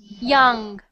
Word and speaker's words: young: yeah yeah yeah okay keep your mouth open not ja you're doing ja i want you to put the bottom of your tongue here and put the rest of it up like this yeah yeah young young no your mouth is closed open your mouth watch me young young